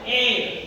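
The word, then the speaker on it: heir: ಮಾತ್ರ ಉಚ್ಚಾರಣೆ ಮಾಡ್ತೀವಿ ನಾವು ಏರ್ ಎಚ್ ಸೈಲೆಂಟ್ ಆಗುತ್ತೆ ಅದಕ್ಕೋಸ್ಕರ ಯಾನ್ ಏರ್ ಅಂತ ಕರೀತೀವಿ ಇದಕ್ಕ ಕನ್ನಡದಲ್ಲಿ ಉತ್ತರಾಧಿಕಾರಿ ಅಂತ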